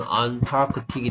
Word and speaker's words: Antarctic: 그래서 악틱에 이거 붙이면 발음은 안타크틱이 되고 이건 남극이야.